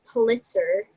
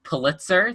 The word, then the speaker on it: Pulitzer: be an artist and after finding out that pulitzer the head newspaper guy has raised the newspaper